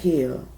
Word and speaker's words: Hill: community day for Project Hill. Hill, not Heal, but Hill, because that's how they pronounce it, Project Hill.